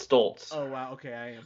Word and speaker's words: Stults: It's You could pronounce it Sluts the way it's read, but anyways, it, no, because it's Slults. So It's Stults. It's Stoltz.